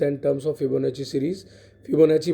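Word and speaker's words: Fibonacci: फिबोनाची पढ़ा करिए, that is the correct pronunciation.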